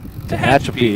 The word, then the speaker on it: Tehachapi: Tehachapi, yep. I can pronounce words.